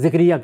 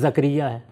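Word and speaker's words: Zakariya: Let me give an example of it, normally people among us pronounce 'Zikriya', this is the wrong pronunciation, it is 'Zakaria' in the Quran.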